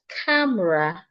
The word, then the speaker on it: camera: I also have camera not ra camera. Also the second the e in the word camera is silent. It's not camera. Camera. The same r we have in mirror.